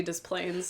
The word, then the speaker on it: Des Plaines: It's also, there's like Des Moines, Iowa. They don't pronounce the S there. But in Des Plaines, it's supposed to be Des Plaines, apparently.